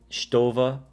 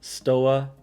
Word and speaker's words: Stowa: case you wanna sound off in the comments stova but i'm to pronounce it stoa because that's just how i say it it's